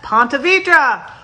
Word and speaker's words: Ponte Vedra: the state of florida try this one that's ponte vedra ponte vedra used to be called mineral city